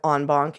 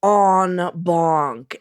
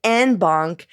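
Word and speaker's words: en banc: than is healthy right now, where the term onbunk comes up frequently. And I wanted to give you all a heads up on the pronunciation of onbon.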